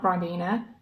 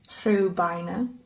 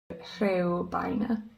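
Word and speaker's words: Rhiwbina: It's a real My Welsh pronunciation might not be great, but that's Ribena Station. Not Ribena, Rhywbeina. Rhywbeina.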